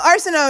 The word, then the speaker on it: Arceneaux: Michael Arceneaux is here. Did I pronounce it correctly?